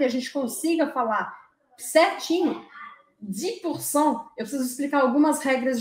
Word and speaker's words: dix: precisa saber que 10, o número 10, se escreve com X no final. E que se a próxima palavra começar com uma consoante, você não pronuncia esse X. E aí você fala 10%, 10%, 10%.